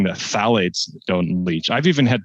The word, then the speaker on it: phthalates: tell people that plastics are safe phthalates which is spelled p h t h a l a t e s phthalates it's okay they don't leach they play